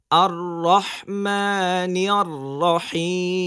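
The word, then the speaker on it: الرحمن الرحيم: আর রহমানির রাহিম বলেন আর অনেকে কিন্তু আর এরকম সাউন্ড হয় র অনেকবার হয়ে যায় এটা কিন্তু ভুল পড়া হ্যাঁ আমরা দুইবার র উচ্চারণ করব একবার আর আরেকবার রহ এটাই মাথায় রাখতে হবে আমরা র যেন দুইবারের বেশি না পড়ি এখানে আর ঠিক আছে আর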